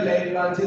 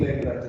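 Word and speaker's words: Leclanché: तो primary cell में बेटा सबसे ज्यादा जो यूज होता है वो होता है जिसका नाम है ड्राई सेल या लैग्रांजे सेल।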